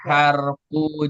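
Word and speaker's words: حرف: Jadi enggak boleh dibaca huruf. Kenapa? Kalau huruf, kalau huruf itu jamak dari harfu ya.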